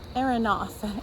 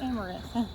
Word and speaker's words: amaranth: But plant-based complete proteins include quinoa, soy, buckwheat, hemp, chia seeds, spirulina, tempeh, and araneth.